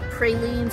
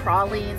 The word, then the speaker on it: pralines: They're really known for their pralines or pralines, however you choose to pronounce it. Apparently all of them are correct.